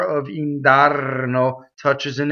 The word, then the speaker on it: indarno: Indarno, rolled R.